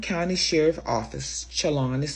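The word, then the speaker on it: Chelan: The Chalon County Sheriff's Office Chalon is spelled C H E L A N office has been looking for Decker since the evening of May 30th.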